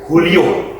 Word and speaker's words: Julio: dulu namanya Julio iglasis tulisannya Julio iglasis dibacanya Julio ya karena ini orang Spanyol pemain Real Madrid bukan